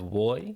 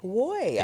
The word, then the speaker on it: WOI: on it app well you can pronounce it as Wy Wy okay yeah exactly all